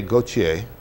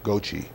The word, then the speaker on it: Gauthier: And I said, well, we pronounce it Gauthier. And I started to go through my explanation. Wait a minute. He said, I lived for 32 years next door to a lady, and she just passed away. Her name was Mary Louise Gauthier. She was from Paris, France. And she pronounced it Gauthier.